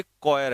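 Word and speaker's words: choir: ठीक है अ चेयर of singers तो इसकी स्पेलिंग सही कर लेना य क्वायर है सी एच ओ आई आर क्वायर ऑफ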